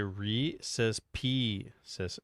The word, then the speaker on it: Reese's Pieces: Some people say Reese's Pieces.